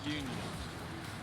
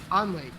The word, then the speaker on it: Unley: Is it Unley or Union?